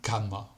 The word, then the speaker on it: cama: La letra C, que se pronuncia como la letra K, como en la cama.